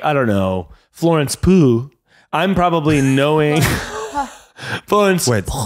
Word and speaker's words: Pugh: Yeah, because if I'm like, I don't know, Florence Pugh, I'm probably knowing Florence Wait, Pugh. How do you pronounce that? Florence Pugh. I'm probably. I say pew, like a church pew.